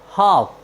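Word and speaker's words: half: उच्चारण का नियम है यदि किसी वर्ड में एल एम एफ के डी के पहले आए तो हम एल का उच्चारण नहीं करते हैं जैसे एच ए एल एफ हाफ हाफ means होता है आधा साथियों यहां पर आप देखते हैं एल जो है वह एफ के पहले आया है इसलिए हमने एल का उच्चारण नहीं किया है हमारा नेक्स्ट वर्ड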